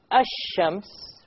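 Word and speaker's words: الشمس: Notice when I say Ash-Shams, which is the Arabic word for sun, where is the lam? Silent. Silent. It's not pronounced, right? Ash-Shams.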